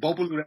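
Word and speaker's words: Bopolu: I said, is there a silent G in that Bopalu, one? Bopalu, that's like, no, not in Bopalu.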